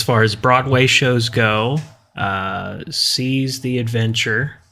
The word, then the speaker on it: Seas the Adventure: As far as Broadway shows go, Seas the Adventure, that's spelled SEAS, as in seas, like that the sounds ocean. like seas the day.